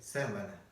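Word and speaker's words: сайн байна: Буква «н», когда она соединяется с «б», она начинает звучать как «м». Допустим, когда мы здороваемся, мы говорим «сэмвэна». Свой «сэм», как известно, буквы «м» нет, но тем не менее буква «н» начинает звучать как «м», потому что встречается с буквой «б» в начале слова «бэйна». И вот здесь также буква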